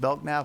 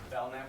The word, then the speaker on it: Belknap: Last person to speak was Mark Is it Belknap? I'm saying it wrong. Belknap with a silent K.